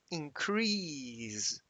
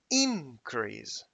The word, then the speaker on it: increase: that when, for example, the word increase is a verb, the pronunciation is increase. But when it is a noun, we shift the stress and we say, instead of increase, we say, for example, an increase.